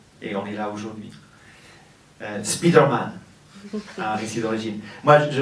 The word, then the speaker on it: Spider-Man: Ça m'a pris beaucoup de temps pour comprendre de quoi parce que en fait on dit Spider-Man. Spider-Man c'est comme ça qu'on prononce mais les français disent Spider-Man.